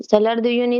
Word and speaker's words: Salar de Uyuni: Salar de Uyuni is okay.